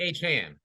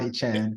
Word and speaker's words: Achane: It's Devon A Chan, but we thought it was A Chain, but it's A Chan.